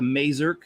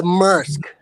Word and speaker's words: Maersk: Is it the Mazurk train? It's The Maersk.